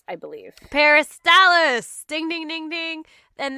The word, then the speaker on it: peristalsis: tbt to necro necromania millennia anyways it's called peristalsis peristalis i believe peristalis ding ding ding ding and that's the process